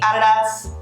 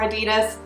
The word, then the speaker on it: Adidas: i've already started to see everywhere is the adidas or adidas depending on how you say it form 84's